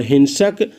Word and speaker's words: who: अब लिखा है WHO, इसका उच्चारण होता है हु।